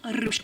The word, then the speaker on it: ruched: Check out this training ruched bra in the color plum brown. Say it with me now. Ruched. That's how you say it.